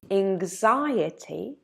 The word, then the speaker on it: anxiety: Careful with the pronunciation of the word anxiety, because even though the root is the same, the adjective has a different pronunciation. Look, anxiety, but anxious.